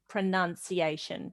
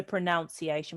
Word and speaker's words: pronunciation: When we have it like this, it turns into pronunciation. We don't say pronunciation, we say pronunciation, but this is pronounce and this is pronounce.